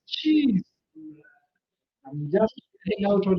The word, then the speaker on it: qis: I remember pronouncing the word key as key, It can be QIS, and it was like kiss, and somebody's like, no, it's cheese.